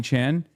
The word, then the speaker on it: Chan: Stop saying Connie Chen, it's Connie Chan.